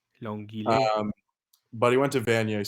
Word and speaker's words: Longueuil: So Long, like long, but then Ueuil. Longueuil. Longueuil.